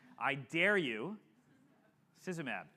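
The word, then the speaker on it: Idarucizumab: how to pronounce it there is a way to pronounce it I dare you szab and you can think of mab at the end because a monol anti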